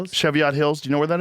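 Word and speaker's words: Cheviot Hills: Cheviat Hills.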